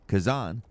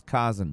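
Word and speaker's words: Khazan: I I have only recently learned how to pronounce Kazan. I thought it was Kazen before, but rest assured, I've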